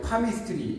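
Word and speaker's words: palmistry: 이제 파미스트리 이런 거 이제 이런 거는 L이 발음이 안 되고.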